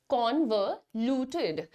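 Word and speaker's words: convoluted: में लिखती हूं ना, इसका साउंड होता है छोटा अ, ठीक है, कॉन्वोल्यूटेड। नाउ टिड जो है ना वो बेसिकली बड़ा ए आप नहीं लगाओ, इसलिए यहां पर TID लिखा है, सो the pronunciation is going to बी कॉन्वोल्यूटेड।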